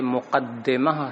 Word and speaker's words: مقدمہ: میں بتا دیں کہ یہ مقدمہ ہے دال کے کسرے کے ساتھ، اور یہ قدمہ یقدم